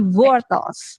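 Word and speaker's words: wortels: Nah, jadi bacanya cuma agak beda aja di W-nya jadinya V gitu. Jadi vortals gitu.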